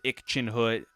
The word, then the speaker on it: Ircenrraat: You know, Google says ickinhood. Another Google site says urchin rot. I I don't know. I prefer urchin rot. It's like a little rat.